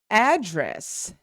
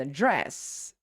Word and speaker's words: address: We have examples such as address and address. Address is the noun.